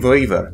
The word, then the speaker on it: Vouivre: this time i'll be playing viva which is a french word and that's my best pronunciation of that french word which essentially means wiven